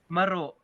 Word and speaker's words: meruk: Tapi dia ada pronounce dia tidak sama ada. Kalau sebutan bahasa ikut bahasa Melayu, lain bunyi dia sebab dia menggunakan pronounce alun bawang. Dia meruk. Dia ada masuk dalam dia punya K itu.